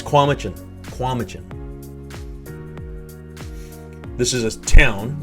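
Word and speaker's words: Cowichan: i've heard komichin or kwamchan kwamchin uh it's kwamuchen kwamijin this is a town you know i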